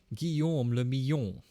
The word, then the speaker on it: Guillaume le Millon: Guillaume le Millon. Okay. If it doesn't rhyme, you're not pronouncing it right. Nice. Guillaume le Millon.